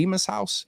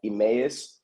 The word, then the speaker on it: Emmaus: saying it right the emus house am I saying that right so so hold on I had to correct you on the uh the pronunciation of that is Emmaus Emmaus Steve that's right you